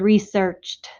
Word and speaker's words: researched: So in the word researched, I hear the t sound at the end.